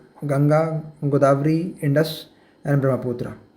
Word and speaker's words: गंगा: ठीक है, गेंजस कहते हैं, लेकिन गेंजस तो अंग्रेज़ कहते हैं। ठीक है, इनकी जुबान टेरी है, इसलिए गेंजस कहते हैं। हमारा जुबान तो ठीक है, वी can pronounce it very well, गंगा।